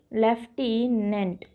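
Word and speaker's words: lieutenant: करेंगे लिखने की चलिए लिखे नहीं हैं कि लेफ़्टीनेंट लेफ़्टीनेंट लिक्विड ली है शहर यह करेक्ट स्पेलिंग है बेटा लेफ्टिनेंट कि अब पढ़ने में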